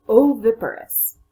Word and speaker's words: oviparous: it down for you the full word is oviparous and how many syllables whoa oh ferrous that's a four syllable word let me show you